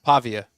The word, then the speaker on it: Pavia: And Pavla, how you pronounce his name? Pavia.